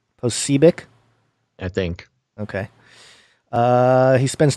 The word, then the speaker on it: Posobiec: I like how I think it's pronounced Posebiec. Posebiec?